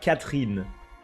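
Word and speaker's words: Katheryne: at the end but the E is silent of course because it's French and everything is silence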